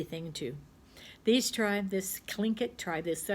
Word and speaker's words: Tlingit: to these time this clink it try this so it's well it starts with the tea but it's pronounced with a K this clingy tribe lived in the